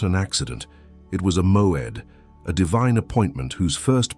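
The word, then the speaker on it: מועד: Pronounce it with me, moed.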